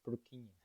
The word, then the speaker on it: Purkinje: Nah, ini lengkapnya Johann Evangelist Purkinje, bacanya gitu ya, Purkinje.